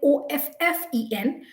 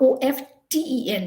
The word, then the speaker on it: often: It's like Offen, not Often. The T is completely silent.